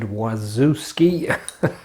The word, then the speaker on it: Wawrzewski: that's the quantum darts was it david wazuski i thought that's how you pronounce it anyway just a nice variation